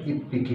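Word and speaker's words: いっぴき: হবে ইচি যোগ Hicky itchy যোগ হিকি এটা উচ্চারণটা চেঞ্জ হয়ে যাবে ইফ পিকি হবে এখানে ইফ পিকি এটা আগের মতই ইচির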